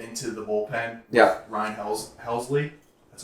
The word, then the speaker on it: Helsley: if they get into the bullpen yeah Ryan helsley that's how you say it yes um with